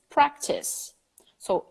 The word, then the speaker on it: practices: not threats preps it's practice so I practice she practices she practices there is a third syllable now included with another vowel I practice she practices